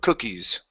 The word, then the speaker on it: cookies: cookies first okay so even though in this word it has a double O okay okay we're we're going to pronounce an uh like could good book okay this is uh C cookies cookies okay good so